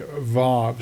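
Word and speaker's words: ו: They pronounce it wow. W A W. But in modern day Hebrew, it's called a vav. So, it has a v sound rather than the w sound.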